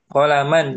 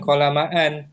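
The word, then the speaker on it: قلمًا: Jadi kalau untuk mansub ada tambahan alif setelah tanwin qolaman. Jangan qolamaan.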